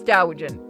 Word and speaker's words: Doujin: I know it's Doujin. I said it wrong on purpose.